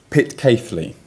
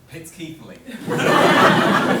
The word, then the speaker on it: Pitceathly: I pronounce it pit cafely. However, my brother who's actually here today, Oliver pronounces it pit kefley.